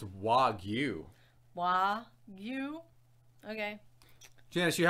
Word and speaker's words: Wagyu: know if I'm saying that correctly oh it's Wagyu wow you okay Janice you have to remember a part of part of my fun is purposely mispronouncing things to upset people so that that way goo was okay that way goo beef was just